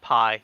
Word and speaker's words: Pi: That's the pie. Pronounced pie.